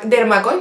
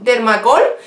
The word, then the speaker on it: Dermacol: Es la base Dermacoil, ¿no? ¿Se pronuncia así? Dermacoil, no. Dermacol, ¿vale? Yo la compro en Primor y su precio es de unos 9 euros aproximadamente.